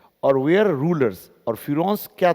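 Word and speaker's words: Pharaohs: ये फिरौन से, कि कोई लोग इसको फेरोज भी बोलता है, लेकिन ये फिरौन है ना। फिरौन से उच्चारण करते हैं, अलग अलग तरह का इसमें एक्सेंट है, तो इसको हम फिरौन्स कहें तो ठीक है।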